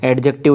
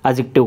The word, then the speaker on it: adjective: कहलाएंगे क्या कहलाएंगे एडजेक्टिव एडजेक्टिव नहीं बोलना है क्या बोलना है डी साइलेंट रहता है सही प्रोनंसिएशन करना है एडजेक्टिव कहलाते हैं वो वर्ड्स